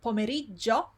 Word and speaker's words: pomeriggio: And then we saw the word pomeriggio, not pomeriggio, pomeriggio. There are two G's there. Again, we have GIO. And again, it's a long word. So you want to, if you find it difficult, you want to say it slowly first, so you don't miss any syllable, and then you say it quickly.